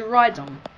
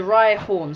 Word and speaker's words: Rhyhorn: It's the Rhydon. The Rhyhorn, sorry, I hate it when people pronounce them wrong, but I just did it.